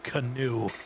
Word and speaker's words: Keanu: Just like, do you remember when Keanu Neil came out and was like, the way you say my name is Canoe?